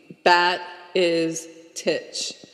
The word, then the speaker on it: Batistich: My mother's maiden name is Batistich, and it's Croatian. And so my grandfather's brother's wife explained to me bat is titch, and then I was able to spell it. Batistich.